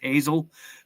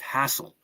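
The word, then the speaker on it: Hasil: Everybody says Hazel, but it's pronounced Hassel. Hassel.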